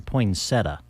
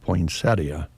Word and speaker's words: poinsettia: does not okay but I've heard it lately pronounced both ways something that you highlighted yeah for me it's always been in poinsetta yeah same here I think in Nebraska a lot of us just say poinsetta there you go but poinsettia is the refined